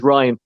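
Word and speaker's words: Rian: say it every time it's spelled rain but he himself says Ryan McBride and McBride ran into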